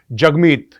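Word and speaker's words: Jagmeet: ये दिखाया है कि जगमीत is pronounced as जग and rhymes with hug.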